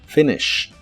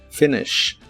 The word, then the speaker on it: finish: Finish que significa terminar las letras I de esta palabra se pronuncian muy cortas Finish Finish y usaremos el verbo